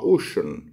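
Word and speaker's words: ocean: واي هيتنطق كانه سين لكن الكلمه دي حرف السي هنا منطوق كانه شين زي كلمه سبيشال وزي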